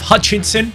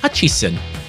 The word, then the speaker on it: Hutchison: We have Hutchinson. No, it's actually Hutchison. It's not even Hutchinson.